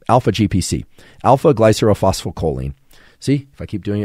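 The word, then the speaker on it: alpha-glycerylphosphorylcholine: And I'm going to attempt to pronounce what alpha-GPC actually is. It's alpha-glycerophospholipid, right? Alpha-GPC. Alpha-glycerophospholipid.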